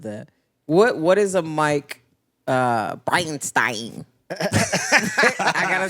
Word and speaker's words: Bridestein: Bridestein. Bride of Frankenstein.